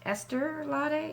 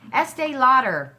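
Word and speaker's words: Estée Lauder: um Esther daddy yes Esther Lotte s je Estee Lauder apparently that's how you say her name oh great I heard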